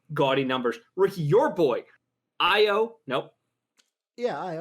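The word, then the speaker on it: Ayo: numbers ricky your boy io nope yeah i o i o you said it i got every time i break it's an a but it's pronounced an i i o de sumu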